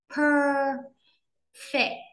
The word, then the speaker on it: perfect: Per, perfect, fit. Trọng âm nhấn vào âm này cho nên âm này sẽ đọc cao và to lên dặn.